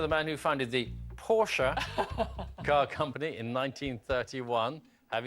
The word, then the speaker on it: Porsche: Well, first of all, it should be pronounced Porsche because he's German.